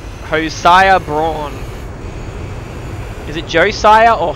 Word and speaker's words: Josiah: Josiah, not hosire. But I get why you get it mixed up. Yeah. Depending on which part of the world you're from, I think can change how it's said.